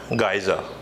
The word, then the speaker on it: geyser: poet poetry so the next word sounds like geezer to you and to me to also now saw that the correct pronunciation for that one is geyser which means water heater and I think some